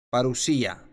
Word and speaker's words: parusía: palabra para para asia para lucia si se pronuncia de vista xp s parusía en el libro de mateo capítulo 24 jesús